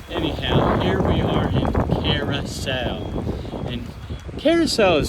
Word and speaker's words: Curaçao: in Aruba but anyhow here we are in Carousel and Carousel is spelled really funny for how it's pronounced it's c-u-r-a-c-a-o a lot of people used to say it's caraca or karako but it's called carousel thank you I'm not